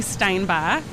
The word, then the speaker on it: Steinbach: So introduce yourself to everyone and give me the correct pronunciation of your last name, if you will. Yeah, my name is Steinbach.